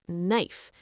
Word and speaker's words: knife: For example, the word knife. You see a K at the beginning, but do you say it? Nope. It's completely silent.